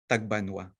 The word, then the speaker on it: Tagbanwa: because according to marshay when the central tagbangua people write their own name they only write tab and they will pronounce it as tagbanwa in other words the tabawa